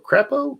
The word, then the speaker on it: Crapo: Is it carpo? Crapo? Crap. It's crapo is how it's spelled. How do you say it? Crapo? C-R-A-P-O.